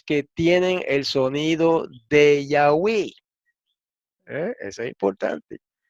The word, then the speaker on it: Yahweh: Pues no, en la poesía samaritana siempre rimaban el nombre sagrado con palabras que terminaban en we. Entonces, esto señala hacia la pronunciación Yahweh y no Yahuwah o Jehová, como, ¿verdad?, pretenden algunas otras personas.